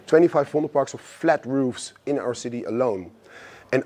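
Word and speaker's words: ROEF: So it's pronounced English, but it's Dutch written. R O E F. Uh so when people look for it, it's roof Amsterdam.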